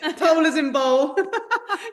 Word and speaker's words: Towl: And you're just toll rhymes with bowl, which is what we worked out in Stanbul.